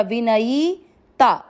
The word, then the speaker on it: विनयिता: य पर ई की मात्रा विनयीता, विनयीता।